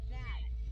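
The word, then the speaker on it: gnat: Why is there a G in front of Nat? Cause English. Is it Nat NAT? Cause English is dumb. Is it a silent G?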